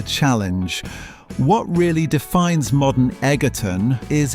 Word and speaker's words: Egerton: But when you visit Egerton, pronounced Edgerton locally, you learn that true community requires intense physical labour.